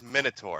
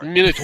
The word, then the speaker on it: Minotaur: It's not Minotaur. I don't know where you guys are getting that. It's Minotaur. Minotaur.